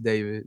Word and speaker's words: d4vd: Pronounced David, not D4VD.